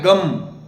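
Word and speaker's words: गं: मंत्र है गम तो इसका उच्चारण कैसे करना होता है गम गम गम थोड़ा लंबा उच्चारण कम से कम 8-10 सेकंड लगे इसमें दोबारा बता देता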